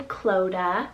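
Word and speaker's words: Clodagh: list another girl's name we have the name cloda spelt c-l-o-d-a-g-h cloda now this one means cloudy river which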